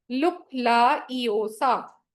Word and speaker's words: LUKLAEEOFA: इसको अपने बोलना कैसे? आप इसको बोलेंगे लुक ला ए ओ सा, ठीक है, ये इसका प्रोनाउंसिएशन बनेगा। क्या बना इसका? लुक ला ईओ सा।